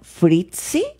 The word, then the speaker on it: Frietze: Pero particularmente mi invitada, Fritzi, ¿así se pronuncia?